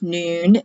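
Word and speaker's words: nun: like mayim for water noon spelled none but pronounced noon and this is the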